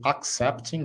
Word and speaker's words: accepting: aceitando o convite accepting esses dois CS fica essa brecada no c accepting o verbo é accept